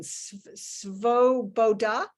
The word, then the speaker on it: Svoboda: there, but there is a party called the Svoboda.